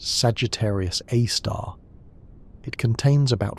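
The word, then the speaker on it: Sagittarius A*: Often written as S GR A star and pronounced Sagittarius A star.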